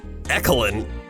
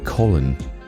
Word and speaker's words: Colin: Your name isn't Ecolin. Ecoline? No, it's Colin.